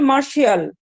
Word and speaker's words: martial: তাহলে দেখো proud race of মার্শিয়াল, এটার উচ্চারণ মনে রাখবে MARTIAL, মার্শিয়াল। তোমরা জানো TI দিয়ে অনেক সময় উচ্চারণটা শয়ের উচ্চারণ হয়।